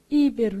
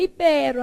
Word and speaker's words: ibero: Asiago, barbaria, pudico, Hungria, ibero, senão você vai lá e lê como? Íbero. Então, é ibero, avaro.